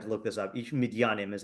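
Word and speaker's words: מִדְיָנִים: Ish midyanim is how you say it.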